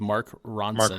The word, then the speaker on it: Mark Ronson: Because Ro and Kevin couldn't come up with Mark Ronson. Mark Ronson. Mark Ronson, yes. I was gonna say it rhymes with the name of the rapper that's also a chef. Action Bronson.